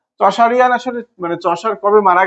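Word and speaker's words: Chaucerian: আসতে হবে এমনটা আসলে না তারপরে এজ অফ চশারিয়ান এজ অফ চশারিয়ান সি এইচ এ ইউ তারপরে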